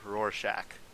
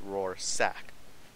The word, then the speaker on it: Rorschach: halo hd today i am joined by sergeant rorschach that is how you pronounce my name yeah and if you guys don't understand it we could also go with raw sack yeah absolutely all right the things people have